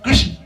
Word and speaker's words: कृष्ण: थोड़ा टेढ़ा हो जाएगा, कृष्ण कहोगे तो जीभ सीधी नहीं रहेगी मेरे। कृष्ण जीभ को टेढ़ी करनी पड़ती है, कभी अनुभव कर देखना। सीधे कृष्ण बोल दोगे तो हो जाए ना, जो सही उच्चारण है कृष्ण, तो जीभ टेढ़ी होती है मेरे।